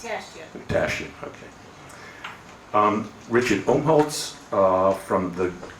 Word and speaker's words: Tashjian: What is it pronounced? It's Tashjian.